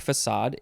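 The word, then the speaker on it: façade: which is spelled f-a-c-a-d-e if it didn't have that little symbol you would probably want to pronounce it but that's not how it's pronounced because there's a little symbol called a cedilla under it and that means that it you have to pronounce it differently than the normal way what are some other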